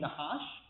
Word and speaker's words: Nahash: The serpent is pronounced Nahash, and this guy's name is Nahash. It's like barely a difference at all.